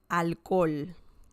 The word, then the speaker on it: alcohol: So the spelling in English and in Spanish is pretty much the same. Right? El alcohol. The pronunciation is a bit different. El alcohol. El alcohol. So just remember that the pronunciation, the spelling is the same. The pronunciation is different.